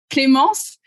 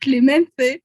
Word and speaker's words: Clémence: and I, like in Spain, she was called Clemente. Like, what? Clemente. And people were pronouncing so badly. Wow. So badly. Oh my god. You just get destroyed. Oh my god. Oh, her name is quite good in French, but in Spanish, not that much.